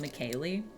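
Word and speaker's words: McKly: We've got McKaylee, spelled M-C-K-L-Y, obviously pronounced McKaylee.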